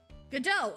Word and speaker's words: Godot: Godot! Okay, I was right. Like waiting for Godot. Oh! His name in Japanese has no relation to... It's Godot?